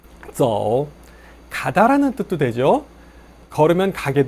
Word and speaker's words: 走: 走 라고 하지 마시고 Z-O-U 연결해서 走, 走 이렇게 연습하시기 바랍니다.